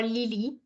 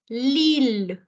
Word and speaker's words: Lille: So you will not say Lille or Lily. It is going to be pronounced as Lille.